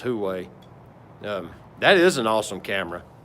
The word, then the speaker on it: Huawei: I can't pronounce it right. I think it's Huawei.